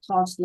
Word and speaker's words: cause: Đây là âm cause, đây là âm o trong cause.